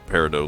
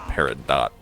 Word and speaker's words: peridot: us here for the Peridot leaves or if in case you don't want a paradot is how it's spelled but it's peridot and unfortunately I